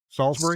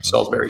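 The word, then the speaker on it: Salisbury: our guys up top how how do locals pronounce the name of that town Salsbury Salsbury Salsbury like Salsbury steak I guess yeah yep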